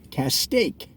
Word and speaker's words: Castaic: residents the oh geez generally pronounce it as it rhymes with the words beef steak in other words test